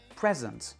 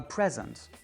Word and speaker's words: present: Quand vous utilisez present comme un nom, l'accent est sur la première, present, a present, ça veut dire un cadeau.